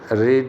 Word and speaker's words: read: रीड की third form रीड ही होती है, लेकिन प्रोनाउंसिएशन चेंज हो जाता है, रीड रेड रेड।